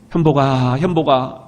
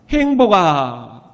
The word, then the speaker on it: 현복: 그래서 현복이라고 지어는 주셨는데 아무도 발음을 그렇게 못 하시는 거예요. 우리 외할머니가 인자하신 음성으로 현복아 이렇게 불러주시면 좋으련만 여 발음을 못 하셔요. 받침 니은자를 발음을 못 하셔요. 행복아 그러시는 거예요.